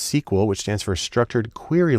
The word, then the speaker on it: SQL: the most common language there is SQL usually pronounced sequel which stands for structured query language because that's